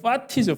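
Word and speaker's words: fati: 자, 운명을 사랑하라는 아모르 파티라는, 아모르 파티 하니까 무슨 파티인 줄 아시는데 그 노는 파티가 아니고 파티죠. 파티, F 발음, P랑 F 주의해서 발음하셔야 되는데, 아모르는 사랑이고 파티는 운명,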